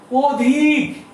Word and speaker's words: অধিক: কিন্তু আমি তো বলি অধিক, এখানে বলছি অধিক, আমরা লিখলাম অধিক কিন্তু উচ্চারণ করছি কিন্তু অধিক। তাহলে কি হয়ে গেল? এখানে অটা ও হয়ে গেল। তাহলে এখানে অয়ের উচ্চারণটা বিবৃত, আর এখানে অয়ের উচ্চারণটা হচ্ছে সংবৃত।